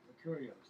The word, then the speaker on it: La Curieuse: Licurios. That's how it's pronounced.